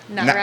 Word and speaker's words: NAREP: NAREP.